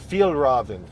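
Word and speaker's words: Fjällräven: Fagelraven. Is that how you say it? How do you say it? Real raven. Fjellraven.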